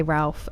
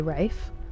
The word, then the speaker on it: Ralph: It I think it depends cuz some people say Ralph and some people say Rafe. Um, like Rafe Fines, it's pronounced Rafe, but I would say Ralph still for most people.